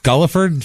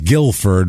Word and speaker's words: Guilford: a a thing here it was named after Guildford in England that's why it's Guilford I think I've been calling it have I been calling it gulford gulliford since the I said it right in the opening I know and I think I've been calling it gulliford ever since I apologize if you've